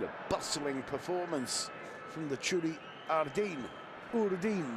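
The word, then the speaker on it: Txuri-Urdin: It's been a bustling performance from the Churi Urdin. Not quite sure of the correct pronunciation of that. The traditional Basque name by which both the team and fans are known. Churiurdin, they're telling me.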